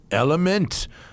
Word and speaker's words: LMNT: slash tire all right it's element spelled lmnt pronounced element man this stuff is